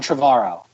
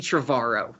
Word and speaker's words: Trevorrow: 2017's The Book of Henry, directed by arguably the greatest filmmaker of this generation and maybe all the generations, Colin Trevorrow. Is that how you pronounce his last name?